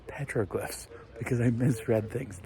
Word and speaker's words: petroglyphs: saying it wrong and it's not terriglyphs it's petroglyphs because I misread things